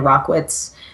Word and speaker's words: Rachwitz: but uh it's Amanda rockitz and uh my last name is spelled r a c h Wii TZ so doesn't actually look like how it sounds but that's how you